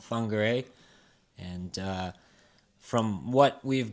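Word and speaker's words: Whangārei: It's uh spelled with a wh but wh there is pronounced with an f sound. So it's called fungere.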